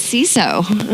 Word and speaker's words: CISO: Is it CISO or CISO? What is the right pronunciation? This is a very contentious question. Okay, strong opinions. It's CISO.